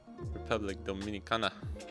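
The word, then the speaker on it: República Dominicana: Republic Dominicana, right? Is that how you say it?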